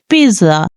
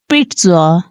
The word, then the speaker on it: pizza: people mispronounce this word like some people says Pizza which is incorrect pronunciation the correct way of pronouncing this word is pitza pitza pitw pizza pizza pizza pitza once more